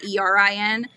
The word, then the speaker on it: Aaron: Yeah, my brother's name is Aaron, but my husband is from New York and says that I say it wrong. He says I say it the way that the girls' way is, how it's ERIN.